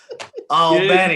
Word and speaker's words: Albany: I gotta pronounce it right. Albany.